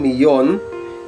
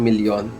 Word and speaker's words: millón: So 1 million is un millón in Spanish. So remember, doble L or double L must be pronounced as Y. That's why we say it un millón, not un million.